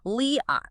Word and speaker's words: Leot: Leot. Leot. Got it. Yeah. Think Lee with a little stretch. Lee and a long open ah smoothly together. Leot.